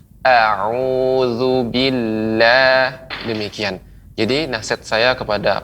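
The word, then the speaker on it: أعوذ بالله: Misal pengucapannya auzubillah, auzubillah. Padahal kalau kita memberikan haknya, maka kita akan mendengar dengan jelas. A'udzubillah.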